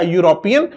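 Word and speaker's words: European: गलत हो जाएगा क्योंकि लेकिन यहां इसका जो प्रोनंसिएशन करेंगे वर्ड का यूरोपियन तो यहां पर ई साइलेंट हो गया है तो इसका जो हिंदी में लिखेंगे यूरोपियन ये इस प्रकार से आएगा यूरोपियन ये देखो ये जो य आया है य य यज्ञ वाला य है जो कसोनेंट है बच्चों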